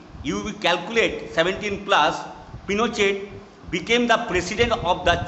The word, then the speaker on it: Pinochet: Augusto Pinochet, pronounced Pinochet.